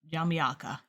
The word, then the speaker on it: Jamaica: It's not pronounced like the country. Oh, Jamyaka.